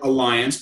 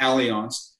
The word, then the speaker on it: Allianz: this whole thing Allianz some people call it Alliance but it's pronounced Allianz Allianz is the second largest